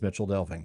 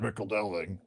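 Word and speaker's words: Michel Delving: or to hear miclving but it is it is Mitchell delving. So, I'm not going to I'm not going to Oh, you're not a real Tolken fan if you pronounce it Rick Delving.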